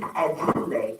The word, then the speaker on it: Adjeley: Her name is Sweet Ajule. It's spelled ADJELEY.